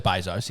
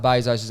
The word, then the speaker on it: Bezos: um Amazon founder Jeff Bezos Bezos I think they pronounce I believe it's Bezos BOS and his fiance Lauren Sanchez